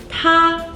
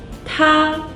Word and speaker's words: 他: 他 means he. 他. Another character with the same pronunciation.